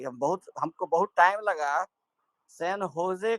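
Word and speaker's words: San Jose: तो हमारे दिमाग में समझ में नहीं आता था कि ये लोग सैन होजे क्यों बोल रहे हैं, जबकि इसका स्पेलिंग जो है SAN सैन और JOSE है।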